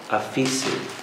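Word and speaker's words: aphesis: It's very close to pronunciation to another word called liberty, aphesi, A-P-H-E-S-I, aphesi.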